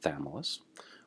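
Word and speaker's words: Chthamalus: a this is a crazy word but it's pronounced thamulus why does thameless choose to live in the upper intertidal zone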